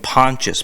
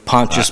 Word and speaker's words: Pontius: a conscious or unconscious pilot he was saying pontius pilate yeah do you know pontius pilate is a is a is a guy